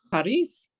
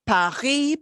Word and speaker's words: París: París. París. París. En francés se dice Paris, Paris, pero en español decimos París, porque pronunciamos la S de París, ¿sí?